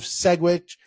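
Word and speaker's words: Sedgwick: Today, we've got Pete Romano of Segwick and Segwick. I know with the soft G.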